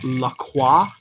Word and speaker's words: LaCroix: who have actually said let me get up Lacroix which is fine because that's how you say